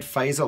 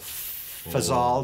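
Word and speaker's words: Fasel: in the gcb95 it's a red phasal or FAL depending on how you pronounce it isn't it funny how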